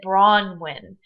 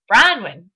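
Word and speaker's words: Bronwyn: She pronounces it Bronnin. When I first met her, it was just a part of my accent coming from Michigan, I guess, that I used to say Brian, Brunwin, Brunwin.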